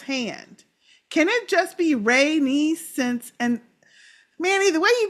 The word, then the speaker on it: Rhaenys: Then, for Rhaenys, it's Ray, R-A-Y, and then the word niece, N-I-E-C-E.